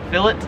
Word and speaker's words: fillet: 17 is filet or it's filet if you're american here in australia they pronounce it as philip so it is a